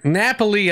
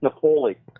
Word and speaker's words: Napoli: am doing great it's Nepali yeah I can't call him Nepali um I just realized that I'm a dumbass thing and it's actually pronounced Napoli um I guess I